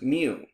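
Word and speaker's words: μ: population arithmetic mean which we have a symbol pronounced mu is a parameter that is computed using data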